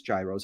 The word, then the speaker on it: gyros: Okay, if you were to go to the Greek Fest in Milwaukee, how many euros? Now, some of you might pronounce them as gyros.